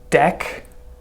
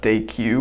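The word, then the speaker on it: Deque: and you can see this implements deck by the way it's not day queue which that's how I read it at first and queue and if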